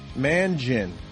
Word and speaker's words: Mangin: Is it Mangin or Mangin? Mangin. I'm going to go with Mangin because that's how it's spelled.